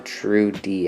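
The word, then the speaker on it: Trudeau: heading out to Montreal Trudy that's how you pronounce it and then over here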